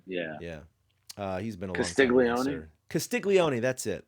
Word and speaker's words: Castiglione: How do you pronounce his name? Castiglione? Castiglione, yeah. Yeah. He's been a Castiglione?